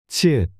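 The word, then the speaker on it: 치읓: 치읒. Ch. This is pronounced like ch in chair.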